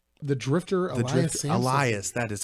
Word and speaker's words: Elias: vs I what's his name the drifter addressing Elias that is how you pronounce it yes no lion Samson Samson gets